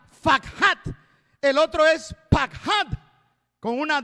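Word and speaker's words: פחד: El otro es pakhad con una D al final.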